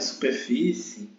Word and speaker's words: superfície: gente pode observar que superfície eh é acentuada por ser uma palavra paroxítona terminada de tbo Observe que a a sílaba tônica é a penúltima tá se é a